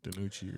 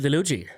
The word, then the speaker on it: DiNucci: I don't know how you say his name right, Danucci or something. Ben DiNucci.